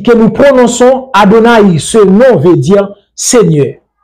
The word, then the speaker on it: Adonai: A, D, N, I, que nous prononçons Adonai, ce nom veut dire Seigneur.